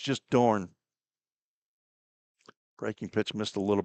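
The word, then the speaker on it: Dohrn: Vanessa Dornne Dehorn. There's an H in there. D O H R N. De Horn. But they for some reason do not pronounce it. It's just Dorne.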